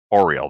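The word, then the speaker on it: Auril: icewindale at least pre-oral auriel oriole that's how it's pronounced oreo sorry i have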